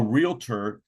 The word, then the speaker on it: realtor: But I would say don't work with a realtor that doesn't pronounce it realtor. You know what I'm saying? If you're working with someone that says, I'm a realtor, and they say, I'm the best realtor in the market, you say you're the only realtor in the market because it's pronounced realtor.